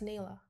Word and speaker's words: Nila: It's kind of like The Lion King, but that's Nila. Is it Nila?